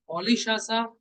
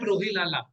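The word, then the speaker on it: Rolihlahla: First of all, listen the pronunciation: Nelson Olishasa Mandela, not Rohilala.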